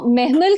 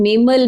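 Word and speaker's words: مہمل: discover discover अच्छा also मेहमल का नाम प्रोनाउंस बहुत खूबसूरत से महमल होता है ये लोग मेमल मैमल मैमल हर तरह की प्रोनाउंसिएशन चल रही है ड्रामो में सो एटलीस्ट अगर नाम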